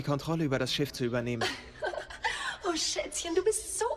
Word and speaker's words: übernehmen: über das Schiff zu übernehmen. Zu übernehmen. Übernehmen. Yeah. It's not a separable verb. This is why you emphasize the second part. If it was the way you pronounce it, it would be separable.